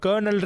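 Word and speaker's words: colonel: போதும் வித்தியாசம் இருக்கும் இப்ப கர்னல்ன்ற இங்கிலீஷ் வார்த்தை எடுத்துக்கிட்டா spelling C ஓ எல் ஓ என் இல் ஆனா நம்ம ப்ரொனௌன்ஸ் பண்ணும் போது கர்னல்னு சொல்றோம் இது வந்து நம்மளுக்கு எப்படி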